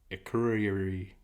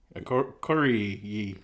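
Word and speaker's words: Akureyri: okay you are e y I agree r-i a curry a curry yeah all right keep drinking good try loosen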